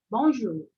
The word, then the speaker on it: bonjour: facilitar para vocês então esse o u é o sonzinho de U né Igual o nosso u o u do português bonj bonj tá a segunda